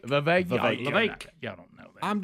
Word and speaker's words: Vivek: It's Vake. The Vake. Like cake. Rhymes with cake. Vivek.